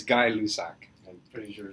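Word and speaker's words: Gay-Lussac: That's just how you That's how you spell it. It's not how you pronounce it.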